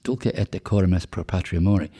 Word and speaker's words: Dulce et decorum est pro patria mori: Yeah, I mean, as I said earlier, it's Dulce et decorum est pro patria mori, with a short with a slight Yorkshire accent.